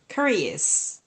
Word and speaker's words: curious: It's curious.